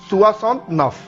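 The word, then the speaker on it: soixante-neuf: So 69 will be सुआसॉन्त नफ। So if you want to pronounce 69 in French, the pronunciation will be सुआसॉन्त नफ, सुआसॉन्त नफ, सुआसॉन्त नफ।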